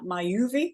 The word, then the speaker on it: Myoovi: Myoovi, is that how you say it? Yeah, that's right.